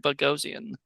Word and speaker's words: Bogosian: I always call him Eric Bogosian. Well, you see, I used to call it Bogosian, but it's Bogosian.